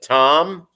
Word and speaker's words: Thom: boss my immediate supervisor who spells his name he pronounces it tom but he pronounces it t-h-o-m or he spells it